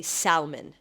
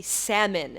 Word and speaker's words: salmon: family my entire life I would say Salman because that's what they would say at home with my family because my family is Russian speaking so they say Salman so when I go to school I think that this is correct to say Salman and all of my friends my colleagues or co-workers they correct me and they say it's actually salmon it's not salmon you're not supposed to